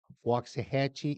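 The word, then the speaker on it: Waxahachie: The wax is spoken wax if you say it right. But it's wax to the lax. They've no linguistic might. Hatche rhymes with Apache.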